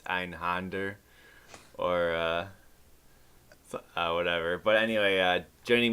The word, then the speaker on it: Einhänder: The in-game spoken one is Einhänder, so let's just go with that.